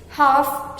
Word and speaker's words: half: bricks, old chipped vases, half shoelaces. Again, the word half, L-H-A-L-F, matlab adha, is not half. We usually say as half. L again here is silent.